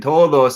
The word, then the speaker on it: todos: with a D, and you pronounce that D differently than the D in todos. Okay, and todos is much as a more weaker. It's like a fricative D, and the word dan, it's a stronger D.